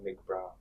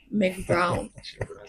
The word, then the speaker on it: McBrown: She pronounces her name McBrown. McBrown. I like it so much, so I like to maintain McBrown, and I'm a McBrown.